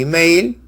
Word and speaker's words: email: Lo correcto es carta e email, por la unión del buen sonido, E con E, pero E de email, inglés, suena I.